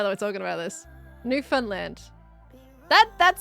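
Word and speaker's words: Newfoundland: new Funland new Funland I'm always trying to like copy your pronunciation but of course you get more of a Canadian pronunciation new Funland I feel like that would be no no Finland no Finland new I I tend to go for the New Finland type pronunciation new Funland nothing fa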